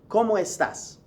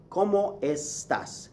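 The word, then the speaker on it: cómo estás: to say the basic como estas how are you como estas como estas now listen carefully to how I'm saying it como estas como estas you hear the esses right s pass however a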